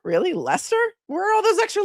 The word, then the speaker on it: Leicester: it cuz I'm like, "What How do you pronounce that? Is it Ly-chester?" And then I looked at him and said, "Lester? Really? Lester?